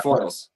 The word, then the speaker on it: Foyle: Foils, like the tin foils. Foil. There we go. Like plural foil.